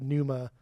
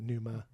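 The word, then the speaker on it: Pneuma: But Numa, that's how you say it. Numa.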